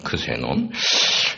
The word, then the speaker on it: 크세논: 영어로 발음으로는 제논이라고도 그러고, 그리스 원래 발음은 크세논입니다. 크세논.